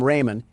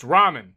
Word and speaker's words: ramen: Door Dash is on its way to deliver some Raymen, and I don't want to spill any around the pyramid floors. Uh, it it's pronounced ramen.